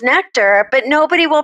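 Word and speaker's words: Nektar: a tech company and their name is spelled n-e-k-t-a-r and they want to be called nectar but everybody pronounces it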